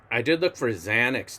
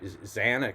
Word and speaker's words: Xanax: But the strange thing about X when it starts a word is that it's really a Z, right? It's pronounced Z. So why do they even spell it that way? It should, Xanax should be spelled Z-A-N-A-X, and same with Xerox too.